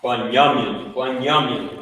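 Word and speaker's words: בנימין: That's how you pronounce it. Right there. Right? Benjamin, Bunyamin.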